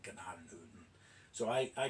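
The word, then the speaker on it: Gnadenhutten: Um now I I should mention the town is called Janaden Hutton uh pronounced Janaden Hutton by the locals today.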